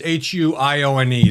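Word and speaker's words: Huione: It's the Hunine group. It's Hu N. That's how you say it.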